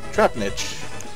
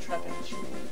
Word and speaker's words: Trapinch: Trapnitch. Trapnitch? Trap... Oh, Trap Pinch. I've been saying that wrong all this time.